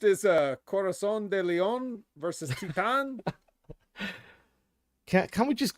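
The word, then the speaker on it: Titán: But still, it's not how you pronounce it. It's Titan.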